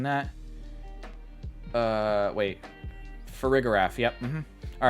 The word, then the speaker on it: Farigiraf: I'm not mispronouncing that. Wait. Farigiraf, yep.